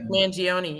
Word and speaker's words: Mangione: So the original Italian pronunciation, the GI just means the soft G sound. You don't actually pronounce the I normally. So you would, in Italy, you would pronounce that Mangione.